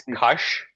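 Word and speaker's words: Kaş: Like maybe I can start with the fixed pronunciation. Yeah, yeah. It's Kash.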